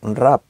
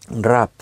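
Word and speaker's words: רע: En el original, en el hebreo, la palabra malo es una palabra hebrea, es rap, se escribe R-A-H, rap.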